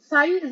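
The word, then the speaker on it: psi: स इज the amplitude of the electron wave and इस called wave function. इसको पहली बात तो वेव फंक्शन बोलते हैं। इसको हम प्रोनाउंस करते हैं साइ से।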